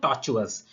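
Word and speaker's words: tortoise: next word है दोस्तों टॉर्चस ये टॉर्चस में जो आर लिखा है दोस्तों ये साइलेंट होता है टॉर्चस में जो आर है वो साइलेंट है इसको भी आप दो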